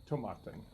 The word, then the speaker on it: Tomatin: today we have tomaten I had to look it up repeatedly to find out the correct pronunciation I had watched several videos looked at the site I got three different three different pronunciations finally on their Facebook page there was a video of actually the guy who actually met when he came here in the Beaumont from the distillery and he was pronouncing so we're gonna go with tomaten okay so anyway Tabata